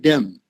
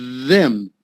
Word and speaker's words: them: i think is that when you said them it was a bit like them said to them you got a little bit of a d in there but them okay but uh my hearing